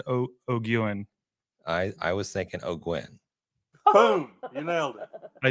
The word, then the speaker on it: O'Guin: I was thinking O'Gwen. Boom, you nailed it. I did? Perfect. O'Gwen. Thank you. Oh, O'Gwen.